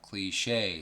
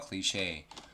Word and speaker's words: cliché: 자, cliché. 자, long sound 있죠? cliché. 앞에 lucrative도 해줄게요. lucrative. 오케이, lucrative. 빨리 발음하면은 lucrative.